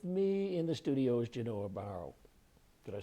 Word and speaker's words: Genoa Barrow: With me in the studio is Genoa Barrow.